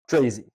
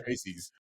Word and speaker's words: Tracz: Your last name is, uh, pronounced Tracy. T R A C Z.